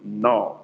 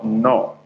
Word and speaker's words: Nnoo: So Ndewo is spelled Ndewo, Ndewo, or no, which is spelled as Nnoo, or the O we have dot under. That is no. As I would say, welcome in Igbo language.